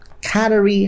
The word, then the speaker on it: cannery: but that is wrong cannery has to stress on the first syllable canary has the stress on the second syllable so you try to